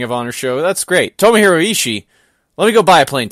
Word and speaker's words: Tomohiro: You just did. That's how you say it. Tomohiro.